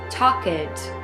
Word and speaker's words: talked: you talked they talked notice how talked is not pronounced talk it regular verbs in the past simple tense are pronounced with it or a D sound at the end talked liked walked also